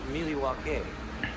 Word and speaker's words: Milwaukee: Actually, it's pronounced Milwaukee, which is Algonquin.